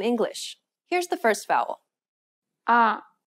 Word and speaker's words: 아: 아. Open your mouth wide as if you were at the dentist and relax your tongue. Then try to say ah.